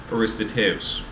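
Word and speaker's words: Aristoteles: Still in ancient philosophy, we move to a guy by the name of Aristotle, or as it's sometimes actually more accurately pronounced, Aristoteus.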